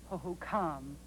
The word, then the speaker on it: Hohokam: Indians how you say I believe that tribes name is pronounced oho come it doesn't matter mark